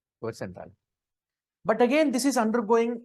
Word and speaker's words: cuvette centrale: Whatever, okay, it is pronounced as cuvette centrale. Rajeshwari, how it is pronounced? Cuvette centrale.